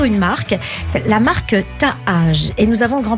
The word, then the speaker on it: Taaj: J'ai bien aimé votre manière de le prononcer. Oui, Taaj, je sais pas, il y a deux A. Oui, c'est la mélodie du, c'est la mélodie de la marque.